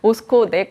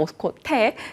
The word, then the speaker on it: 오스코텍: 오스코넥 말고 오스코텍 그리고 신라젠 체크하시길 바랍니다.